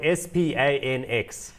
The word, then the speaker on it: Spanx: The company she started about 10 years ago is called Spanx. Now, it's spelled S-P-A-N-X, Spanx.